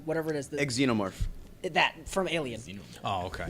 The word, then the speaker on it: xenomorph: honestly never learned how to say this it's Zeno Zeno whatever it is the xenomorph that from Alien oh okay yeah I just